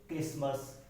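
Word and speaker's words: Christmas: जो टी है वो किन किन वर्ड्स में मतलब साइलेंट रहता है। जैसे कुछ वर्ड्स ऐसे होते हैं कि जहाँ टी क्या है साइलेंट हो जाता है, जैसे क्रिसमस, सॉफन, बैच, लिसन, यहाँ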